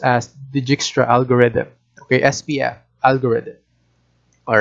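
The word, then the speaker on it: Dijkstra: right so we call it the jigstra it's pronounced as digixtra algorithm okay spf algorithm all right so ospf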